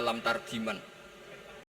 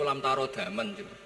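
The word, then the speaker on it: لم ترَ دمًا: sampai mati tidak ketemu, karena dia bacanya lam tardiman. Wah itu cari di kamus sampai mati tidak akan ketemu. Bareng tanya gurunya, ini apa Pak Yai? Oh itu lam tarodaman.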